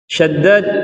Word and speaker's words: Shaddad: Shaddad ibni Ausin, Abu Ya'la ini adalah kunyahnya, namanya adalah Shaddad bin Aus. Shaddad bin Aus bi fathis shinil mu'jamati wa tashdidid dal.